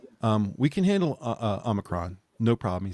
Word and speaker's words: omicron: i'm the krom because that's how biden was pronouncing it it's omicron um yes and i got to do a